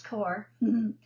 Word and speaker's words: corps: u.s army medical corps and i know how to pronounce core mistook the caduceus for